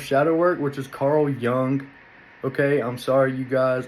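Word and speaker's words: Jung: work which is Carl Young okay I'm sorry you guys I accidentally pronounced the Jay and I knew that from watching blow that that was pronounced young but my bad uh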